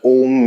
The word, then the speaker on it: Om: If you pay attention to this word Om, which is made up of 3 syllables, A, U, Ma, and not A-U-M, A, U, Ma.